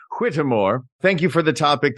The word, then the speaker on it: Whittemore: I have to say it like that because there's that little extra vowel in the middle, and I don't know whether it's pronounced Whitmore or Whittemore. So I just say it fancy to disguise that. Whittemore, thank you for the topic.